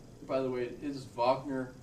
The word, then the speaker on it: Wagner: By the way, it is Wagner, not Wagner. I thought it was Wagner. I I've heard pronounced it as Wagner.